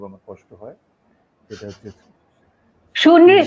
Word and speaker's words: সুনৃত: এবং একই সঙ্গে আমাদের সুজন, ওর আগে যে শব্দটা সেটি উচ্চারণ করতে খুব আমার কষ্ট হয়, সেটা হচ্ছে সুনৃত সুনৃত, সুনৃত হ্যাঁ।